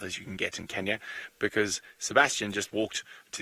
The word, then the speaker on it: Kenya: It is Kenya and Tanzania, not Kenya and Tanzania.